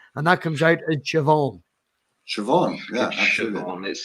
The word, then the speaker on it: Siobhan: team it's yeah yeah it's like shavon shavon in irish is spelled s io b hitch air in well this is